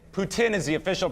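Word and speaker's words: poutine: what is that the french fries the official pronunciation is putin putin is the official pronunciation you can have some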